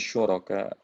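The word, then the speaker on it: شركاء: Anda dengarnya su bukan syuk ya? Shinnya kurang tebal bacanya tadi. Ya, amlahum syuraka.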